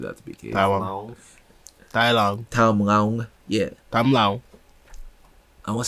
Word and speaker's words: Tham Luang: Tham Luang Caves, Tham Luang Caves, Tham Luang Caves, Tham Luang Caves. One of the There you go. That last one was probably the right pronunciation.